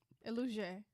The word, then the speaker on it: Elujay: This is, how you say his name? Elujay. Elujay with blue. Elujay. You just said it right the first time.